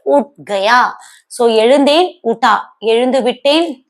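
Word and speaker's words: उठ गया: இங்கேயும் ஹைச் வந்து silent. So we have to pronounce like ut gaya.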